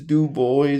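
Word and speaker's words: Du Bois: And yes, it is Dub Boy. That's how he pronounced it. I know French people will be like, "It's Dub Boy or whatever, but I'm just going by how the man himself pronounced it."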